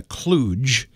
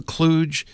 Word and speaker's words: kludge: a technical term we use in the business it's spelled KL udg now I call that a kludge I've heard people call it a kludge I